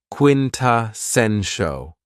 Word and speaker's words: quintessential: adjective is quintessential and this word has four syllables and the stress is on the third syllable quintessential when we say that something